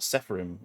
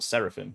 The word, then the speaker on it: Seraphim: and we've now got saffron uh if that's how you pronounce it or seraphim that's it um which is going